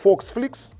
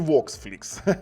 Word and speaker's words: VOXFLIX: баксів ну саме цікаве що по-німецьки читається як foxflix А по-англійськи voxflix vf701 Full HD вони